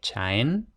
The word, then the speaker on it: chain: Y efectivamente, el hecho de que en inglés todavía se pronuncie chain, con ch en lugar de she, como en francés actual, nos está diciendo que